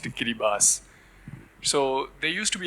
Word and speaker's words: Kiribati: a smallest nation in the Pacific Ocean called Kiribati or it's pronounced Kiribas.